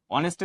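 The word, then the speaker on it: honest: অনেস্টের উচ্চারণ কি? কনসোনেন্ট না ভাউল। ভালো উচ্চারণ আসছে সেখানে কি হবে? এন হবে। এই যে অনেস্ট এর উচ্চারণ কি আসছে? ভাওলের মতন।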